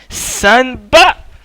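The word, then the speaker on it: 三羽: Ichi wa, ni wa, san ba.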